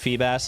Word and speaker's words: Feebas: The pronunciation of Feebas is yikes. What do you What do you expect me to say? Feebas. Feebas. Yeah, like seab bass.